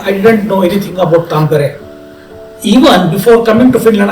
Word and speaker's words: Tampere: Earlier, it was thought that it's a Tampere or what is that. But then, when I got the real pronunciation Tampere, then I thought that there is something with this city.